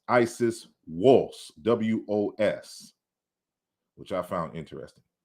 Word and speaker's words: Wos: but the melodic in the melodic script, you pronounce Isis Wos, W-O-S, which I found interesting.